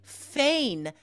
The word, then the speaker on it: feign: It's spelled like rain, right? F-E-I-G-N. It really does not look like it's pronounced.